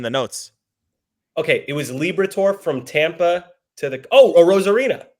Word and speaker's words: Liberatore: Am I pronouncing Liberatore? Liberatore. Like the zodiac sign Libra, and then a tour. Yeah. Liberatore.